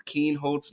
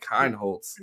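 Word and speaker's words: Kienholz: start getting that right it is Keen holds not kind Holtz so okay to his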